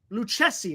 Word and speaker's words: Lucchesi: And we got Joey Lucchesi.